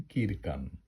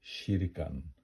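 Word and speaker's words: kyrkan: হয় আবার এটা দেখেন কিরকান এটা আসলে হবে শিরকান কে এর পরে যদি ই থাকে তাহলে এটার উচ্চারণ হবে শি শিরকান এটা ইয়গ এটা সবসময়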